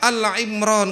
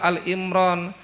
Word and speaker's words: Ali Imran: Hati-hati membacanya. Apalagi di depan saya mamanya. Woh, pura-pura puase surah ketiga, surah apa? Ali Imran. Keliru gitu ya. Itu namanya bukan keluarga. Kalau Alimron ee itu Imran atau yang Imron kalau Al Imran.